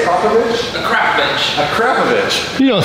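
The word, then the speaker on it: Akrapovič: You say Akrapovich? Akrapovich. Akrapovich. You don't say that. Everyone says Akrapovic, but it's Slovenian, and it's Akrapovich.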